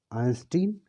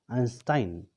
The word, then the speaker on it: Einstein: आइंस्टाइन को हम दो तरह से प्रोनाउंस करते हैं. इट is pronounced as आइंस्टीन as well as आइंस्टाइन. Both are correct.